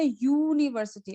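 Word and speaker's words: university: Like यहाँ पे होगा यूनिवर्सिटी. अभी यहाँ पे यू का जो प्रोनाउंसिएशन है ना, तो वो यू की तरह नहीं होता है, वाई ओ यू की तरह होता है।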